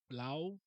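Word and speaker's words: Liu: um Marjorie I think I don't think it's pronounced Leo it's like low Lao Marjorie Lao and Santa Takeda they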